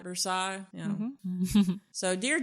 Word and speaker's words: Versailles: And I know from experience that even though it's a French name, they don't pronounce it that way in Kentucky. Right. It's Versailles and not Versailles.